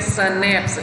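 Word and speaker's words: Schnaps: We have स्नैप्स, स्नैप्स word होता है, pronounce इसे करते हैं स्नैप्स, a German drink made for grain, यानी अनाज से बनी हुई पीने की पेय पदार्थ है जर्मन।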